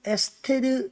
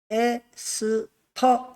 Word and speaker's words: 에스터: 수 을 좀 했거든요 영어식 발음으로 이걸 에스테르를 에스터 이렇게 합니다 그러니까 결국 질산 에류